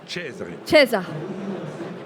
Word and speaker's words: Cesare: Laura Perrette, vous êtes exploitante, et Mathieu Cesare, j'essaye de bien prononcer. Cesare.